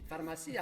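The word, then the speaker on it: farmacia: Pharmacia. Pharmacia. Pharmacia. Avec l'accent tonique.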